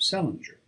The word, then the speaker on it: St. Ledger: of the name of Celinger, which was the usual way of pronouncing the name of Salier, or as they spelled it, St. Ledger, restored by later generations to the still older form. He was a reckless daredevil